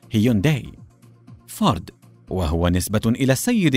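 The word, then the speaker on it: Hyundai: وتعني حديث ومتطور ومتجدد وتنطق في اللغه الانجليزيه هيونداي فارد وهو نسبه الى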